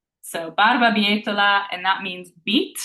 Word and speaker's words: barbabietola: So I'm going to spell it all one more time. That's the full word. B, A, R, B, A, B, I, E, T, O, L, A.